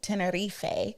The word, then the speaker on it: Tenerife: It sailed from San Juan, Puerto Rico, and we visited Santa Cruz de Tenerife, or let me say it correctly, Tenerife, which is one of the islands of the Canary Islands.